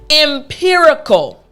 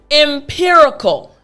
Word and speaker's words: empirical: word after me again the r sound being in the middle empirical excellent last time after me empirical great job so now